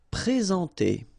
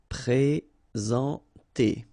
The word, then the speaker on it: présenter: Okay, remember when we get this accent aigu like that on the top of sorry, then you should pronounce it e. All right, and then you combine the two en nasal en. Présenter.